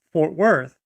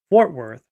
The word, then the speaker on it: Fort Worth: the pronunciation is is centered on the word fort instead of the word worth it's not fort worth it's fort worth like that's how the